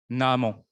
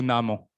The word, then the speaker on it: Naaman: mais nous allons voir Naaman ou Naaman, selon les prononciations. Mais moi, je dirais plutôt Naaman.